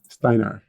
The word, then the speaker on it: Steinar: So is it pronounced Steiner? Steiner. Steinar.